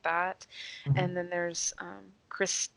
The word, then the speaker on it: Krys: And then there's Chris T. Havoc. It's Chris.T.Havoc, and Chris is spelled Krys.